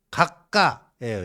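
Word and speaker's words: 閣下: 텐노 헤이카, 천황 폐하 뭐 그 밑에 내각 대신들 총리 그거를 각가예요. 일본 발음 각가. 거의 비슷해요. 우리는 각하인데 각가 뭐 이런 식으로 되고 근데 일본에서는 그 총리만 각하라고 하는 게 아니라 일본 분들이요.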